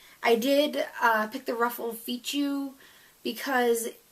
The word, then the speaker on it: fichu: And then there's the ruffled, I think it's pronounced ruffled Fichu, Fichu, F-I-C-H-U, Fichu. Would that be right?